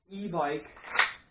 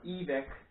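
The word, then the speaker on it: Evike: It's also an e-bike or e-vic, depending who you are. E-bike or e-vic. I pronounce it e-bike.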